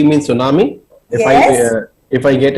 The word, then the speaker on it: tsunami: nam and before that the t is silent that's why we don't call it tsunami it's tsunami because t is silent and su means harbor